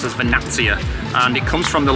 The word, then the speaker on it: Vernazza: as it's written a lot of people will pronounce it as vaza and it's actually pronounced as vanattia and it comes from the Latin word Verna